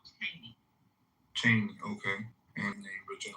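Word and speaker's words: Cheyney: Right, I believe that's what he was trying to pronounce. Yeah, it's called Cheney.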